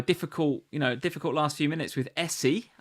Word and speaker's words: Eze: And then Palace make it a difficult last few minutes with Essie. I think is how you pronounce this guy's name. Not Eze. Eze.